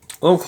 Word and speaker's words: ho: Yes, notice that, please take note that the H is silent. O, Yeah, it's not ho, it's o.